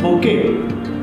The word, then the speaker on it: bouquet: Wait ये wrong pronunciation है. What is the first word? BOOQUET. This is bouquet.